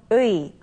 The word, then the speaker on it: 의: at the vowel sound 의. It's a combination of the vowel sounds ư and 이. So let's look and listen to how 선생님 pronounces it. 의, 의, 의. So this letter is pronounced as 의.